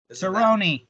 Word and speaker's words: Cerrone: submission here uh tied him with cowboy cerrone cerrone it's pronounced the cerrone okay so he tied with